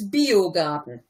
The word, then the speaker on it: Biogarten: That was actually pretty good, except it's Biogarten. Garten, sorry. That's an I and not an L.